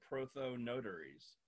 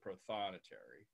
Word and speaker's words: prothonotary: robes like this and they're called proto notaries so that's where they got the name they're there I guess their color is exactly the same as the accountants in the Vatican well we pronounce it prothonotary these birds you can